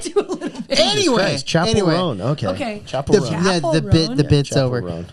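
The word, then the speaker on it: Chappell Roan: Chappelle. Chappelle. Okay. I You're believe offending all of the gay community. Right now. I believe that you said that, but every time I heard someone say her name, Mm-hmm. it was Chappelle. Well, Oh, you mean everyone Chapel is Roan? wrong.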